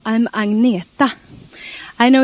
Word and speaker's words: Agnetha: Maybe she just wanted Agnetha to rhyme with Frida. Agnetha and Frida.